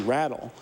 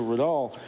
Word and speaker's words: Riddall: on the CBC that they were suggesting that it should be Rattle as opposed to Riddall, and apparently they spoke to people.